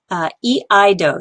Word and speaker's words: iaido: This is iaido. So this is E.